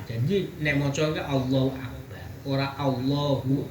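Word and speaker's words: أكبر: i Allahu akbar ora akbaru beda akbaru karena Apa itu kalimat yang terakhir. Yang terakhir itu dibaca sukun. Kalau sukun itu sama saja dengan jazm. Jadi bacanya itu bukan Allahu Akbaru, tapi Allahu Akbar.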